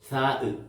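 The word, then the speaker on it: ثاء: പുള്ളിയുള്ള അക്ഷരത്തി റെ പേരാണ് സാഹ ഞാൻ നേരത്തെ പറഞ്ഞു വായകൂടെ കാറ്റ് പുറപ്പെടിയിച്ചു പറയണം സാഹ സാഹ വെറും സാ എന്ന് പറഞ്ഞാൽ സീൻ എന്നുള്ള ഒരു അക്ഷരമായി പോകും അത് പിന്നീട് സീനെ ഞാൻ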